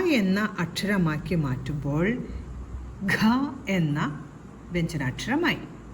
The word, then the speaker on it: ഘ: ഘ, ഗായുടെ കൂടെ ഒരു ഹായുടെ ശബ്ദം കൂടെ ഉച്ചരിച്ചു കൊണ്ടാവണം ഈ ഒരു അക്ഷരം പറയേണ്ടത്.